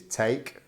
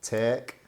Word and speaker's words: take: area in Northern England, there are 3 main pronunciations of the word take, okay? So you'll have the first one, which is take, then you'll have take, and then you'll have tek, where it almost sounds like it's T-E-K rather than